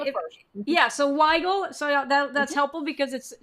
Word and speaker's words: Wygal: been asking everyone to make sure that I'm pronouncing your name right. It's close enough. It's Weigel. It's Wygal. Okay, because I didn't know if you Emphasis on like the it. first. Yeah, so Wygal.